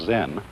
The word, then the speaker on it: Zen: Zen, of course, is a Japanese word, and it's spelled Z-E-N. And that is the Japanese way of pronouncing the Chinese word Chan. And this in turn is the Chinese way of pronouncing an Indian Sanskrit word, dhyana.